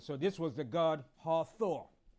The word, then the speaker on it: Hathor: stop PR it so this was the God hathor all right hathor was the Egyptian goddess of